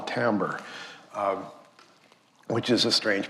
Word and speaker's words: timbre: When you add the harmonics to it, you get a richness, which we call timbre, which is a strange pronunciation for that word, but that's pronounced timbre.